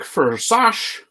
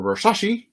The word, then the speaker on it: Versace: Dick Versace, or Versace, depending on how you want to pronounce that, with the Pacers.